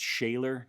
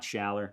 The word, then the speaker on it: Schaller: The tuners, I believe they're pronounced Shaler tuners, not Schaller.